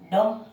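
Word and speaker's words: dumb: और आपने सुना होगा, देखो डम। तो डी और डम यहाँ तो हो गया, बी साइलेंट रहेगा।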